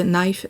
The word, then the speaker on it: knife: Et le cas de knife ne se prononce pas.